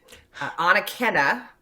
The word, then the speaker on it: Anakena: In 2000, he and others began excavations at, and I looked this up, Anakena.